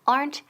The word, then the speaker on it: aren't: So, aren't they? And the pronunciation aren't. Quedan una sílaba. Aren't. Aplastamos esa E. No es aren't ni aren't, okay?